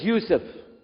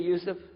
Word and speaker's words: Yusuf: we'll work on itah my name is Yousef can you say Yousef you say Yousef you're very good I wish you teach my wife she keeps mispronouncing it she calls me useless hamdulillah now